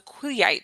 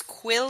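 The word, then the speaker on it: Quileute: Um, first of all, Taylor Lner um is famous for playing Jacob Black who is a member of the Quillite tribe.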